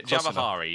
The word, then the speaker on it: Javahari: Was it Javahari. Okay? Javahari, yes. That's actually an R and an I, not an N. So I blame Skype's fonts for that.